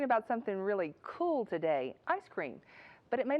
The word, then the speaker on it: ISS CREAM: We spell it as ISS cream and pronounce it as ice cream.